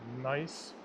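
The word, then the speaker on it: gneiss: Uh this is a form of rock called nice. Uh not like it sounds like it's spelled. It's like g n i e s s or something thereabouts.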